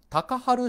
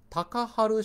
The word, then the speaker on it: 隆晴: そのなおたかはるタカハル親王と言いましてこのような尊い収めると書いて隆晴たかはる親王と呼ばれ